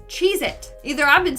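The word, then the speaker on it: Cheez-It: that tasty cheesec cracker is not called cheit it's chees it either I've been saying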